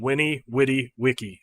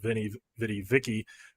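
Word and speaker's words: veni, vidi, vici: in The Original Latin Roman Latin would have been Winnie witty Wiki so the these were a w sound a wha and then by medieval Latin it became the VA sound so it is the Vinnie vidi Vicky that you usually hear so that you're gonna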